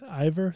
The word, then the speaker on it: Eivor: ior um I believe that like I said ior that's that's how I was was told the pronunciation is so I'm going to stick with